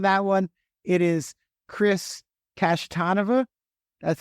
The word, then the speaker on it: Kashtanova: It is Chris Kashtanova. That's how it's pronounced.